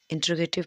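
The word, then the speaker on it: interrogative: ये होता है जो प्रोनाउन क्वेश्चन पूछने का काम करते हैं, वो आपके इंटेरोगेटिव प्रोनाउन होते हैं। इसकी प्रोनाउंसिएशन इंटेरोगेटिव ना होके इंट्रोगेटिव होती है।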